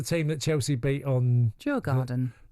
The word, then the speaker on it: Djurgården: How do you pronounce the team that Chelsea beat on Djurgården. Djurgården.